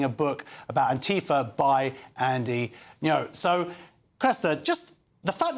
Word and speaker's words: Andy Ngo: Yeah, well, this is quite interesting because the influencer Andy, now you'll know this, how to pronounce this.